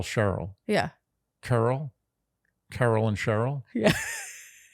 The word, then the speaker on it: Cheryl: So, question, is Carol and Cheryl pronounced exactly the same except for the sh and the k? Or is there a slight difference? No, they're pronounced the same. So it's Carol, Cheryl.